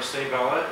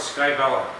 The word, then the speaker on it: Sabella: And then we have our Sabella. It took me a whole year to learn how to pronounce that word. I used to call it Skybella.